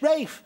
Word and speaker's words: Ralph: I mean, it's, you know, it's very, I said it was very straightforward, you know, R-A-L-P-H, Rafe, you know, as it's spelt.